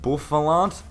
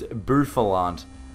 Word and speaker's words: Bouffalant: I used to say like Buffalant, but I think it's Buffalant.